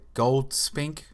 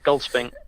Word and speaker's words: Goldspink: Yeah, because I want to say Goldspink. Yeah, that's it, yeah, Goldspink. Okay, so it's not like break it up, Gold's Pink, it's Goldspink.